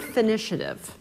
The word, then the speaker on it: finitiative: The word finitiative you mentioned. First, spell it. Finish, I-A-T-I-V-E. Finish, Okay. Finitiative, as in initiative.